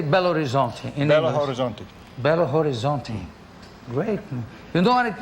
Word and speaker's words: Belo Horizonte: trip how do you say belo horizonte horizonte bello horizonte great you know what it means it's nice